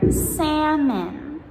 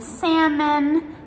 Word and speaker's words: salmon: Then we also have some longer words, for example, almond or salmon. So almond, we spell A-L-M-O-N-D, and salmon, S-A-L-M-O-N. So if we have the longer word, then the silent L usually comes in the middle of the word.